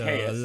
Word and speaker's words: Alcaeus: It's a Alcaeus. Latin name.